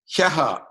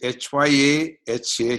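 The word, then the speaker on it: ह्यः: Hyaha. It is H-Y-A-H-A, Hyaha.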